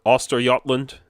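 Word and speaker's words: Östergötland: to this day is is called auster gotland or auster yland as they pronounce it and voster goland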